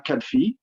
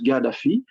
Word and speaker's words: Gaddafi: I would like to give a small tribute to Omar Gaddafi, or I think in English you pronounce Gaddafi, like a G.